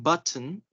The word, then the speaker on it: button: So it says here that when T is followed by an N sound within a word, make sure you hold the T. For example, when pronouncing button, Mm-hmm. hold the T as in but. Like, don't say but. Instead, say but and then say mm, Mm.